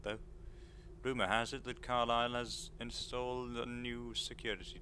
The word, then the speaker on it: Carlisle: Castle Carlisle Carlisle, I think. That's how you pronounce it. Carlisle. You leave out the S's.